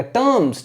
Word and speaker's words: terms: टर्म्स नहीं पढ़ेंगे, टर्म्स, are silent रहेगा, टर्म्स, ठीक है ना।